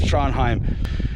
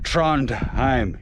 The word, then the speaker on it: Trondheim: island archipelago just above tranim and that's how it said not Trondheim you don't pronounce the d right or anything in the middle in Scandinavian you don't